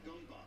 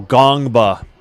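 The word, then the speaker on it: Ngongba: It is a flagrant because of the two-handed push from Ian Jackson on Gungba. Oh, Gongba. They don't pronounce the N.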